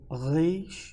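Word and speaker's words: ר: o som de q o re um som um pouco difícil para nós pronunciarmos re re é um R fraco né mas ele tem essa re que é um pouco difícil para ficar mais fácil é como um R na palavra temos o Shin e o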